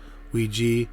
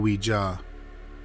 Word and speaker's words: Ouija: want to note that there are two ways to say the name of the board that's the topic of today's Video Ouija and Ouija both are acceptable pronunciations according to the Oxford English Dictionary and Merriam-Webster so we will be using the pronunciation Ouija because that's what we're used to number three William